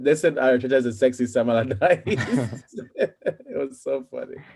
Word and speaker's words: Allardyce: pronounce it? Sam Allardyce.